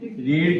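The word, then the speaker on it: read: है the lesson is रीड की second form रेड होती है और थर्ड फॉर्म रीड होती है हालाकि स्पेलिंग इनकी सेम रहेगी बस सेकंड फॉर्म का प्रोनंसिएशन थोड़ा डिफरेंट हो जाता है ठीक है तो द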